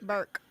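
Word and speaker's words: Berk: One thing I want to put out there is Bruce believes that his lawyer Blair Birch, right? Is that how you say it? Burke. Yeah. He believes that she is not going to be the person representing him.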